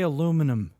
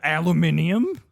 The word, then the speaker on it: aluminum: How do you say aluminum? Aluminum? It's not aluminium. No, I'm not British.